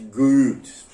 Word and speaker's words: Goethe: Goethe se pronuncia mais ou menos como uma múmia gemendo e cuspindo um chiclete. Goethe.